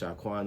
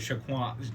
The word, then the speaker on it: Xiakuan: But that was Jerome's idea to spell it like that. And it's like you know what? As cool as that is, it's gonna always like be confusing on how to pronounce it. Yeah. So that's when we just made it regular, Sha, S-H-A, Quan.